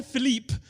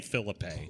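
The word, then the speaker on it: Phillippe: road and uh Ryan Philip is is thank you for pronouncing it the right way and not the fake way he trying to make us say Phillip I'm not saying Philippe no it's no no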